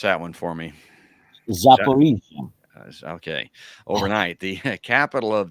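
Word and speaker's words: Zaporizhzhia: Multiple Russian missile strikes shook the city of, pronounce that one for me. Zaporizhia.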